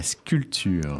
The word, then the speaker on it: sculpture: sculpture one sculps la sculpture sculpture ouis on prononce pas du tout le P sculpture j'ai toujours trouvé ce